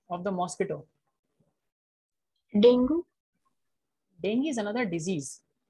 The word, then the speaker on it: dengue: Dengue. Dengue is another disease. It's not dengue, it's dengue. So the way we write it is D-E-N-G-U-E, right?